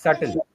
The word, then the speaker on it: subtle: So it's not certain it's subtle.